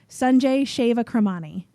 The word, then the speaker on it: Sanjay Shewakramani: Pause while I try to pronounce the name here. Sanjay Shewakramani.